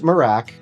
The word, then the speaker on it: Merach: The Merach, again, pronounced Merach, is designed to stay compact while still feeling more stable than your average walking pad.